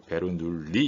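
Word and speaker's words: Bernoulli: 우리가 베르누이 방정식이라고 합니다 프랑스 사람이기 때문에 이거 베르누이 이렇게 하지 않고 베르 누이라고 해서 이렇게 발음을 합니다 베르누이 방정식에 해당하는 거죠이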